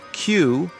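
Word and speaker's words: queue: The word Q is just the letter Q followed by 4 silent letters.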